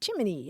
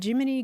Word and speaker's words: Gemini: what the dictionary says, the Federal Space Agency's official pronunciation for its new Man in Space program, Gemini, is Jiminy, as in Jiminy Cricket.